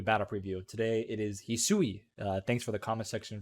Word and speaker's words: Hisui: Today it is Hisui. Thanks for the comment section for letting me know how to pronounce her name.